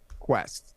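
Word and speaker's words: Kuest: works out so well what is the actual pronunciation not that it'll matter because he's always Peter cost Quest okay yeah a Galaxy Quest um are you I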